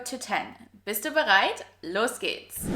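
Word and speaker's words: zehn: And 10. The H here is a silent H and its sole purpose is to stretch the E vowel or E sound longer. 10.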